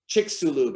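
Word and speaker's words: Chicxulub: biggest crater on planet earth it's called the chiksulu chiksu lube it's spelled c i c h i c x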